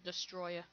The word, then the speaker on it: Destoroyah: Oh, no, I'm just gonna call him Destroya. Because that's how they say it in the game, Destroyer, even though Destos, Destoroyah, Destroyer.